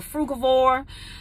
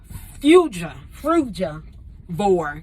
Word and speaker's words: frugivore: I'm a frugivore, frugivore. That's how you say it. Fruja. I've been practicing fruja. Frugivore.